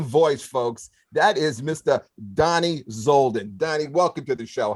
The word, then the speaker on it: Dani Zoldan: and that golden voice folks that is mr donnie zolden danny welcome to the show how are you